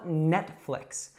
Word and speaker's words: Netflix: So first of all, we have that in net, so it's not Nate, it's net. Nate would actually be a man's name. And then flicks, so it's not fleeks or flikes, it's flicks.